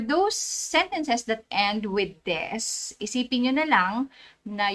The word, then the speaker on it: desu: Take note, hindi ko pronounce yung U sa dulo, hindi siya desu, kundi des. Okay.